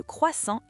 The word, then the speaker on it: croissant: Non, en français, la lettre T à la fin de croissant est muette. Elle ne se prononce pas.